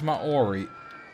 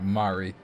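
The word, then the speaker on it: Māori: it it it sounds Maori ma Ori is not PR correct pronunciation I think for that it's like Mari I have no idea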